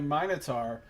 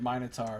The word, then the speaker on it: Minotaur: Maybe I can sing this the next time I meet a Minotaur. I just like pronouncing it Minotaur. Normally, in America, you'd pronounce it Minotaur, but the British people pronounce it Minotaur, and I find it amusing, so...